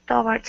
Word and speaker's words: toward: Okay, I start getting sucked towards it. Okay, one more time. Um, so you don't need to focus as much on that that tour. So it's toward So it's nice and quick.